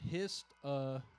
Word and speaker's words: histamine: See, now when you keep it together, because how do they pronounce it? Histamine.